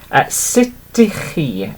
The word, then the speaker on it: sut ydych chi: And I put formal in brackets underneath, and then it's literally sit. Okay, so literally, okay, sut ydych chi?